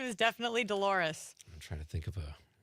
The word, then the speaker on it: Dolores: Dolores. Rhymes with a female body part, according to Seinfeld. I can't think of her last name, but her first name is definitely Dolores.